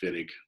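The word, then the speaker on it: Wittig: carbonyl is okay and this is called the vidiq reaction okay it's German it's pronounced Finnick but it's spelled Witek so okay so in the vinik reaction what we have is we have a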